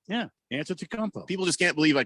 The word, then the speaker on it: Antetokounmpo: Yeah, Antetokounmpo.